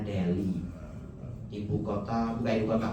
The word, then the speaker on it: Delhi: Delhi bacanya Deli ibu kota bukan ibu kota, kota besar di India.